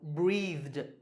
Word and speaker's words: breathed: So the last sound is the, and the is voiced, so it's pronounced d. So breathed, breathed. Did you get this one right?